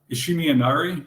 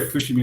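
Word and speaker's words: Fushimi Inari: went to a very large Shrine called uh ishimi Inari yes if I'm pronouncing it correctly and there's a Shinto oh sorry Fushimi and art yeah and there was a Shinto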